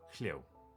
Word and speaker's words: Hyo: For anyone in doubt, it's pronounced Hyo.